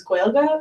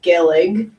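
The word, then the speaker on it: Gaeilge: reasoning is probably because to say Irish in Irish the term is Gua and it's spelled g AE uh i l g and so if you read it in English it kind of looks like gillig um so they think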